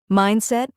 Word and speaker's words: mindset: Mindset, mindset, two syllables, stress on the first part, mindset.